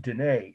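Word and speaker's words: Diné: article very interesting person she calls herself danae and she's of navajo heritage she said that's the preferred term d-i-n-e with an accent on the e so she's the one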